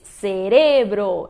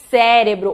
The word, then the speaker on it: cerebro: se diz cerebro e não cérebro ou cérebro. Ela é uma heterotônica que muda também a sílaba tônica em relação ao português e se diz então cerebro.